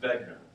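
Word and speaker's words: Wegener: very long time and in German the W is pronounced as a v so it's Alfred begner and basically his idea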